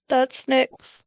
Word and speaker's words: Nyx: No, it's spelled NYX. Greek goddess of the night or darkness. One of the two. Yeah, that's Nick's.